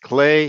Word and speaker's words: Klee: artist named Paul clay looks like Klee but it's pronounced clay he was a Swiss